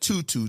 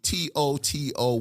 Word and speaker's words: TOTO: buddy how's it pronounced i said tutu t-o-t-o washlet but you know i'm a geechee from south carolina i call it toto toto like the dog like we're not in